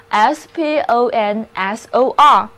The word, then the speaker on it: sponsor: war correspondent就是随军记者。最后一个包含 spons 这个词根的单词是 sponsor， sponsor，第一个字母 o 读作 o，后面的字母组合 or 要读作 a。